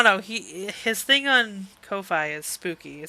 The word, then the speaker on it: Ko-fi: So I follow him on his Ko-fi. I pronounce it Ko-fi, but apparently it's Kofi.